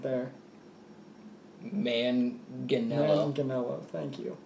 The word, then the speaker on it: Manganiello: Manganiello, thank you. I would say it's multiple syllables. Yes. You don't mush it together.